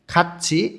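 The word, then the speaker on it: 같이: answer করতেছে নে জি খাচ্ছি একসাথে থিউট বাচ্চিমের পরে যখন ই থাকে তখন থিউটটা ইর এইখানে গিয়ে ছ এর মতন উচ্চারণ হয় এটা ভাতমের নিয়ম উচ্চারণটা হবে খাচ্ছি একসাথে ছাড়াই এই ছাড়াই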